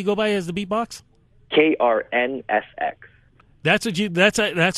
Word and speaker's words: KRNFX: name do you go by as the beatbox KR NSX that's what you that's that's how it's pronounced that's how it's pronounced really what does